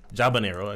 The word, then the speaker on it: habanero: Habanero? Jabanero, actually. Okay, yeah. No, that's how you pronounce that.